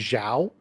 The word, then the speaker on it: Zhao: So XIOU is Zhao, Yeah.